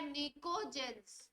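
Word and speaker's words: pnictogen: और नाम देते हैं पी साइलेंट होता है निकोजन किसी किसी बुक में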